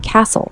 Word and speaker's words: castle: Castle, silent T, pronounced castle.